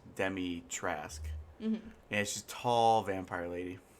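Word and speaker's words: Dimitrescu: but demotrask is it's it's hard to pronounce at first because you don't know how to say it like after playing the game you're like okay so it's demi trask yeah she's tall vampire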